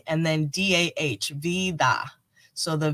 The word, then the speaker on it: vida: in spanish vida um it's pronounced v like the victory and then d-a-h-v vida so the v and